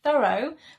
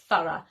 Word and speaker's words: thorough: five is thorough thorough this is the British English pronunciation Americans I think pronounce it thorough but in British English we say thorough and this means careful